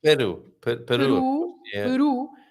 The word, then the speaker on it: peru: Peru. So you have the letter I or the letter U at the end of the word. You stress that part, and even if you